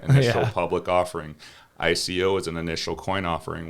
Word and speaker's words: ICO: do what's called an ico which rhymes with ipo right and that's a public offering ico is an initial coin